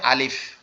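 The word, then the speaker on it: ألف: এটার উচ্চারণের স্থান হচ্ছে আমাদের যে ঠোঁট আছে, এই যে নিচের ঠোঁট, আর এইখানে যে সামনের দুইটা দাঁত আছে, যে দুইটা বড় বড় দাঁত আর কি, সবার আগে যে দুইটা দাঁত উঠে, এই দুইটা দাঁত এই নিচের ঠোঁটের এই পেটের এইখানে লাগবে, লেগে হালকা বাতাস মতো বের হবে।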